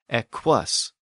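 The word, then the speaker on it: equus: word for horse Eis spelled e q u u s but that Double U was pronounced W eus so Double U became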